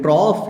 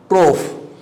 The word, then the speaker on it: trough: ठीक है, ये अब ध्यान रखना है, this is कॉफ एंड ट्रॉफ in British English, but in North American English the pronunciation of these two words is cough and trough.